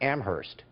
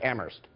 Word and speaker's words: Amherst: noticed you pronounced it Amherst is that how it's set in Massachusetts UMass Amherst okay I'm just asking because I've always heard Amherst like that H is kind of silent I didn't know in